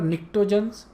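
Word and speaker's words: pnictogens: Remember निक्टोजन्स, P silent है, because of that they are called as निक्टोजन्स।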